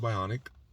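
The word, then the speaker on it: Byonek: by on Nick uh but you know it's pronounced bionic uh they're bionic arms on Instagram uh check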